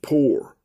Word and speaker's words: pyr: inspire or poor mean p-yr looks like pie because they they're not even they get the word I think pyromaniac from that but it's pronounced poor p-o-o-r expelled p-y-r it's